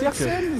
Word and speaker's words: Jacke: Yeah, because there is a 3 at the ending and the 3 is the letter E and if you pronounce it German, it's Jacke.